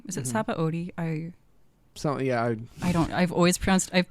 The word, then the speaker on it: Sabaody: Saboti. Is it Mm-hmm. Sabaody? So yeah. I've pronounced it Saboti since I was like 13, so I will not change it.